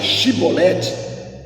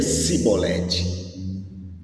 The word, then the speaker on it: chibolete: Quando ele era convidado a pronunciar chibolete, ele dizia cibolete.